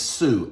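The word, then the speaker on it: σύ: Now the term thou in the Greek is su, S-U, S-O-O is the way it's pronounced.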